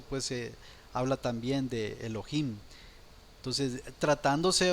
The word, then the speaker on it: Elohim: es el número 430 se pronuncia Elohim Elohim y bueno en otras ubicaciones de la palabra dependiendo del contexto también se puede traducir como Ángeles pero bueno aquí está la pronunciación es Elohim derivación del plural 433